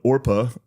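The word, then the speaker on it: Orpah: I feel like Oprah is a Yeah, her first name was spelled Orpa O R P A H on her birth certificate, but people mispronounced it regularly and so Oprah stuck.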